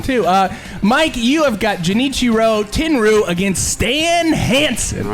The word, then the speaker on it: Genichiro Tenryu: Genichiro Tenryu. Tenryu.